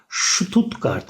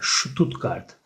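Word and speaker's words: Stuttgart: onu da belirtmiş olalım ST başta olduğu zaman s harfinin şeye şeklinde okunur ştutqart mesela ştutqart ya da şu stabil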